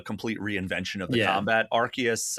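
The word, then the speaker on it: Arceus: Archus, I think Archus is the official pronunciation there.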